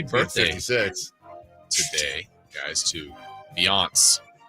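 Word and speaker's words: Beyoncé: Happy birthday 56 today, guys, to Beyonce. Is that how you say it? Beyonce. No. It's Italian. It's Beyonce. Beyonce.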